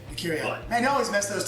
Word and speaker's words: Decurion: us how powerful a decadahedron is. Am I pronouncing that right? No, I think it's actually Decurion. Decurion.